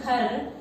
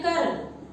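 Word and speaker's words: खर: Then if I say to write khar, some children will write kar. This is a mistake one. This one is mistake. Kar. Kar means no. Then kar means kha. See the pronunciation. Listen the pronunciation carefully. That one it is important. Kha plus ra is equal to khar.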